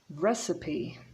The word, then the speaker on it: recipe: pronounce the p receipt recipe so we don't say recipe but recipe so the woman is